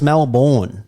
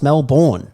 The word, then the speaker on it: Melbourne: We pronounce our own capital cities incorrectly. Like Melbourne. It's Melbourne. Melbourne. Look at how it's spelled. It's Melbourne.